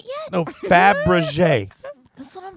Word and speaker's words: Fabergé: Fabergé.